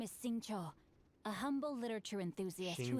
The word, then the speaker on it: Xingqiu: My name is Sing Cho, a humble literature enthusiast who happened to be passing by. So that's how you say his name.